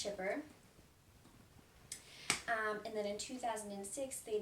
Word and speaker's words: Kuiper: It's actually spelled Kuiper, but pronounced Chipper.